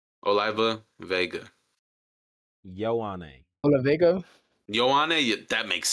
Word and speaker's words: Ioane: Lone. Ione. Lone? Lone? Ione. I There you go. learned how to pronounce his last name. Oliva Vega. Ioane.